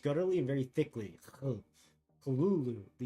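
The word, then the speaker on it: Cthulhu: let's see Lovecraft transcribed the pronunciation is Kul Kulu first syllable pronounced guttery and very thickly Kulu the U about that in full C first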